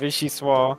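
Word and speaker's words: vichyssoise: Vishi. Let's go. Vishi. I just need to know what language it was. Vishi Swah.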